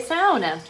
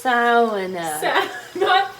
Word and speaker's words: sauna: Why did she just say sauna? Ed's family is Finnish, and he's taught us that the correct way to pronounce it is sauna. Not sauna.